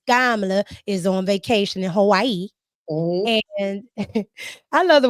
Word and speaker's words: Hawaii: She like, I say Hawaii. So Oh, right. That is how you're supposed to say it. Yeah. she said, I guess because, she's indigenous, so she knows the correct way to say it.